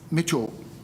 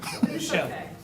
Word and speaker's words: Michelle: you thank you um Mitchell did did I say it right close no Michelle Michelle it's Michelle Michelle hi um my name